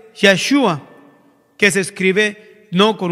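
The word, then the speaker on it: ישוע: El mismo nombre supremo de nuestro Dios, o sea que es Jesús, en su pronunciación original en hebreo es Yeshua, que se escribe no con una J, sino con una I mayúscula, o con la Y, disculpen.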